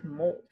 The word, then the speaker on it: molt: word this word is molt M Oh LT only one syllable and bolt that long o sound molt means to shed